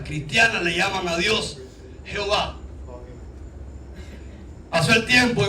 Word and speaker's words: Jehová: Cuando llegan al nombre de Dios, ven que estaba escrito YHWH y no sabían cómo se pronunciaba este nombre, porque la pronunciación era Adonai, el Señor. ¿Y qué hicieron? Le pusieron las vocales de Adonai a YHWH y nació el nombre Jehová o Jehová.